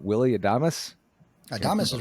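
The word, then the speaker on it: Adames: at third and i'm going to get this name wrong willie adamus thomas is right that's right that's right yep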